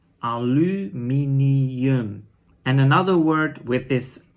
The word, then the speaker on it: aluminium: In Dutch is aluminium. So look closely at the 2 different pronunciations of the same letter U.